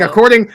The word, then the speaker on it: scuba: Scubba. According to the fucking the GIF guys, that's how you're supposed to pronounce scuba.